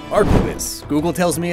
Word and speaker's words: arquebus: Now I have to learn Spanish pronunciations. Arquebus.